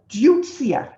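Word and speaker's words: Deutzia: um so this is actually this is called ducia it's spelled d-e-u-t-z-i-a um it's not fully out yet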